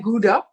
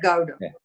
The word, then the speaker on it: Gowda: it go growing like it's not like gouda but gowda yeah okay and um